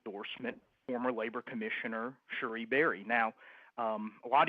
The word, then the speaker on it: Cherie: But you actually pronounce her name Cherie Berry, right.